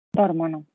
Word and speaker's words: dormono: Dormono. Dormono. Aggiungiamo ono, come non va l'accento sulla terminazione, solo abbiamo questa opzione.